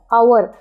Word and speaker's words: hour: आवर, ये आवर बोलते हैं, एच लिखते हैं लेकिन एच साइलेंट होता है.